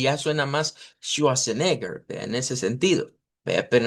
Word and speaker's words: Schwarzenegger: Schwarzenegger. Sí. Entonces, en idioma Deutsch, esto se pronuncia como Schwa.